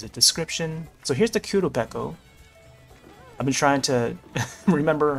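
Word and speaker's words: Qurupeco: crown and there's a description so here's the Kudo I've been trying to remember how it's spelled but yeah uh q u r u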